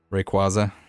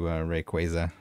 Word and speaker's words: Rayquaza: I was one of the people that said Rayquaza, and then I changed it to Rayquaza. After I found out that I was wrong.